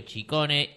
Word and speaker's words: Ciccone: muy bien muy contento porque has pronunciado mi apellido como se debe Sí qué tal Cómo